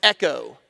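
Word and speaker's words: ἔχω: Echo she was possessed that word is Echo that's how we would pronounce it we would say Echo that word echo in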